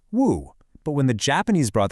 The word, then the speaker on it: 無: Back home in Mandarin Chinese, it's pronounced woo.